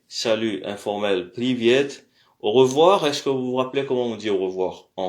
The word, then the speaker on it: привет: Alors, prononciation, salutation et politesse. Donc, bonjour, здравствуйте. Encore une fois, здравствуйте. Salut informel, привет.